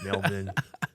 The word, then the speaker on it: Melbourne: to do it yeah Melbourne Americans pronounce it Melbourne melb or Melbourne it's like like like it's a baby being born yeah it's like when Mel is born Mel born yeah Australian M yeah